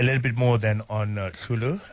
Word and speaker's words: Hloolo: A little bit more then on Hloolo. It's spelled HLOOLO.